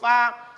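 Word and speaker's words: ف: Fa supaya pas pengucapannya, masuk pada idlaqnya, maka gigi bawah bertemu dengan bibir atas.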